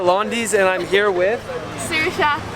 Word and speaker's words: Saoirse: I'm outside at Londy's and I'm here with Saoirse. How do you say it? Saoirse.